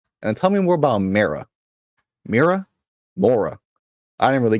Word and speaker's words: Mara: What is it do you want with Mira? Mara. Yes. Like M-A-R-A? Mara? Doesn't matter how you spell it.